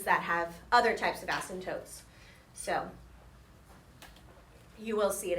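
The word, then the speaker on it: asymptote: that's called is an ASM toote okay and it's spelled kind of weird a s y m p t o t e ASM toote and it's a boundary line that your graph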